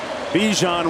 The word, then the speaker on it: Bijan: up another first down Bijan rhymes with Dijon just like the mustard just like the spice under 10 and a half to go First and Ten again for Texas inside the 30.